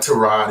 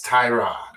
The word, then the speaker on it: Tyrod: It's not Trod, it's Tyrod.